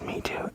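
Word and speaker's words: Meitu: I think it's pronounced Me Too. M E I T U.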